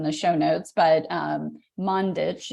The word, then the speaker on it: Mandić: show notes but um mundich is how you say your last name uh but it's yes